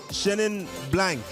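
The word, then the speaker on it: Chenin blanc: to the next one which is uh shenin shenin blank yeah is that how you pronounce it yeah yeah yeah that's tell me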